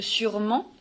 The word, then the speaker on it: sûrement: Par contre, quand on regarde le deuxième ENT et le deuxième S, le ENT de sûrement appartient à un adverbe.